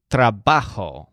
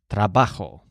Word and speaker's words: trabajo: word for work is trabajo with the stress on ba trabajo so just imagine a